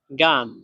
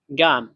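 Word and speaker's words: 干: তারপরে গান, গান, এই শব্দটাতে চাইনিজের 4 নাম্বার টোন ব্যবহার করা হয়েছে, তাহলে এটাও উচ্চারণ হবে ডাইরেক্ট নিচের দিকে। গান, গান, একটু দ্রুত নিচের দিকে পড়বে।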